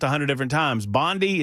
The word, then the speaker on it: Bondi: I know it's not Bondi as in pan, but it's Bondi. It's Bondi with a hard eye.